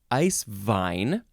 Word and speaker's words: Eiswein: Next word is eiswein or eiswein, spelled E-I-S-W-E-I-N.